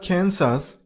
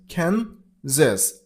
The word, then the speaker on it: Kansas: See, it's not Kansas. It's Kansas. And not z. It's a little bit z.